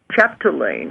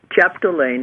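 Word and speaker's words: Chapdelaine: contact him sure okay Dr Anthony Anthony okay chapalain I'll have to spell it for you chapalain it's c h a p d e l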